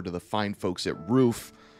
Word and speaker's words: Ruf: the fine folks at roof you guys may know of them as ruf it is pronounced roof okay and they tune